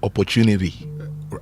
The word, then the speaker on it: opportunity: Now the Americans would say opportunity and that's how many of us get the Americans would say opportunity. The T is a D.